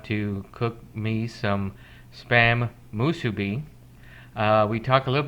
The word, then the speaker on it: musubi: he cooked an authentic hawaiian dish called spam musubi uh it's taken me quite a while and